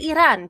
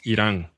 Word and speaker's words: Iran: And yes, I say Iran because that is how you're supposed to pronounce it. Yes, Iran.